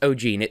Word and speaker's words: O'G3NE: and their sister, and there's 3 of them and they have the same genes, so O'G3NE.